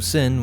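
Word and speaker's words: Syn: our bidding of course her name is spelled different but still pronounced as Sin in the left-handed path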